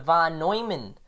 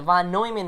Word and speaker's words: von Neumann: So the von Neumann, which I'm finally pronouncing right, the von Neumann interpretation of the ordinals, which will be in the iCard somewhere.